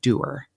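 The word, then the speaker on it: Doerr: up hearing the name it's a German name but it's like doer but it's d-o-e-r-r okay and I've heard several different ways to pronounce it but it's I grew up with Lindor do her okay and she pronounced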